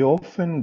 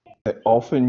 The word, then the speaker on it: often: so when you say often you are you pronounce the t often or often off she sarah often goes i i kind of say it but it's very slight you can't say just